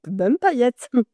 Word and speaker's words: Bum'Paillette: expliquez-moi un petit peu dites-moi comment ça se prononce déjà BM paillette bum paillette on va rentrer directement dans le dans le